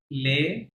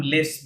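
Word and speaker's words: les: আচ্ছা, তাহলে লে, আমরা ইংরেজিতে এটাকে লে আসলে কি বলতাম? লেস বলতাম, তাই না? লে লেস বলতাম। কিন্তু এস ইংরেজিতে যেহেতু ফরাসিতে লাস্ট লেটার উচ্চারণ হবে না, তাহলে লেস এর থেকে এস লে বাদ দেন।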